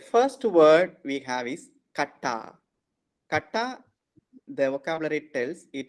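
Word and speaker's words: κατά: So why it is kata and not kata? Because the stress is on a. So if it were to be accent is here, it would be kata. Oh, Okay. so here, so it action rushes here. So it's kata.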